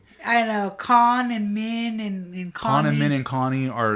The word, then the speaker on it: Khan: Or like when Khan introduces himself, I'm like, "I'm Conup." He's like, "So that's pronounced Con."